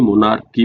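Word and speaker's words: monarchy: तो ये मोनार्की नहीं मोनार्की पढ़ा जाता है। सी एच यहां पे प्रोनाउंसिएशन क्या होता है? कै की तरह होता है।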